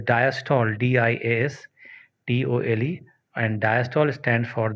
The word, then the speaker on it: diastole: ठीक है, similarly there is another term called diastole, DIASTOLE, and diastole stands for the relaxation of heart.